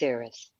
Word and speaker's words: Eris: It's Eris. Eris. Eris Welcome is to the goddess of discord. I'm a troublemaker. That's why you found me. Yes. Yes. Eris. Hi, Caitlin. Hello, Eris.